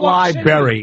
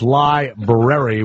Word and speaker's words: library: It's not library. It's library with an R.